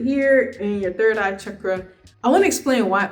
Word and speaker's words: chakra: I want to explain why opening your third eye chakra is very important. If you're unaware of what the third eye chakra is, very popularly known as chakra, but it's actually pronounced chakra, is an energy center that is right here.